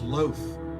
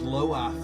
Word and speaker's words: Loath: it i didn't know it was loaf i thought it was loath or something i had no